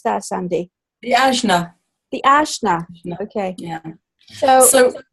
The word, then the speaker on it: Ajna: What is it, how do you pronounce that, Sandy? The Ajna.